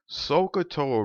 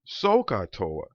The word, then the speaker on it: SOHCAHTOA: in an english class o is spelled o h once you consume the beverage soon as you finish that last little chug we typically would say ah ah in an english class it's spelled a h so the coca-cola reference to sohcahtoa could help take something that's unfamiliar sokatoa related to something that is familiar coca-cola and with the coca-cola